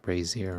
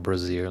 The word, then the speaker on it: brazier: It is pronounced brazier, right? It's not brazier like booby.